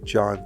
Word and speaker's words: John: While Kiss Kiss Bang Bang and Iron Man 3 were directed by the same guy, Shane Black, Die Hard was directed by John Tierman.